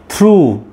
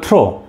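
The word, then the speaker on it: through: ইটস not over it's over round since then থ্রু এটা অনেকে বলবে থ্রো না ইটস নট থ্রো ইটস থ্রু till two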